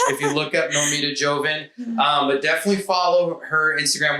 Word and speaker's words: Joven: Sometimes I'll say Joven because people always, just. I'm sure I've heard other people say Joven. I would just jump out a window and just say yes. But then they'll misspell it whenever I say Joven. But then if I, say Joven, then the Spanish yell at me.